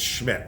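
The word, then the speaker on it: Szmyt: for sure Andre Schmidt spelled like szm YT it's Schmidt I looked it up I don't know if it's 100% right but that's how they apparently pronounce his name um he's a usfl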